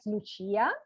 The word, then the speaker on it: Lucia: It's because I am Italian, so I would pronounce it as Lucia.